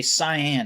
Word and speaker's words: cyan: I'd rather say cyan. And I have a hard time saying that word because it's just it's one of those false one syllable words like squirrel or or ruin or something like that.